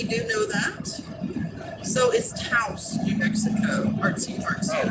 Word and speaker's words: Taos: Taos? Taos. Like Laos.